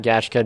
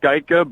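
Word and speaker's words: Gajtka: It's Geica, but you know what? That's pretty close as far as first-time pronouncers of the name go. Yeah, there we go. I know when you put a J and a T and a K out close to each other, Matt.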